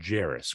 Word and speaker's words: Jarace: the Pacers uh Vegas opener but uh it's pronounced Jairus correct Jairus Walker yep Jairus Walker I was really really